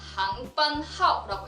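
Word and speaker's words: 航班号: 2번 단어는요, 항반하오라고 읽는데요.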